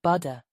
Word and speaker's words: butter: sounds in American English it doesn't have a hard T in the middle does it it sounds more like buder that soft quick sound